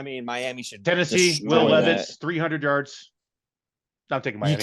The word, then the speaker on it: Levis: You said Levitz. It's not Lenny Kravitz, okay? Same city. There's no T in it, bitch.